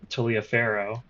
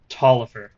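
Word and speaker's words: Taliaferro: One of them being uh this officer's name, it should not be Tia Pharaoh, as I've been saying. It should actually be Tollifer or Toiverifer.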